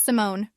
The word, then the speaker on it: Simone: My name is Simone, pronounced like the name Simon with an extra syllable at the end.